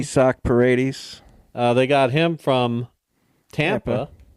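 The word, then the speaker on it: Isaac Paredes: Isak Paredes.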